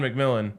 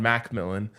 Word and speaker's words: McMillan: So, yeah, I mean, this is maybe a little too on the nose, but like Jaquan McMillan, right? Or actually the pronunciation is Jaquan Macmillan for the Broncos.